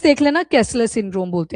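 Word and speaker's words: Kessler syndrome: के ई एस एस ई एल एल ई R spellings देख लेना कैसलर सिंड्रोम बोलते हैं उसको कैसलर सिंड्रोम अब देखो नाम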